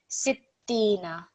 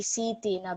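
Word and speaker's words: ستين: The other thing is, over here, just when you have a letter which carries shadda, you want to put stress on it, but you also want to read it a little bit quicker as well. So, sittina, okay? Sittina. We don't want it to be sitina because that will make it sound as if there's a ya madda.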